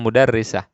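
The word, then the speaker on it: مُدَرِّسَة: guru lihat di sini kita lihat tasydidnya di bawah apa kasrahnya di bawah tasydid jadi bacanya mudarrisah eh mudarrisah Fil madrasati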